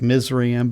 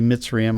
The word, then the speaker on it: Mitzrayim: of he Noah's grandsons it looks like misery em but it's actually mitzrayim I think is more the Hebrew pronunciation of that but anytime you see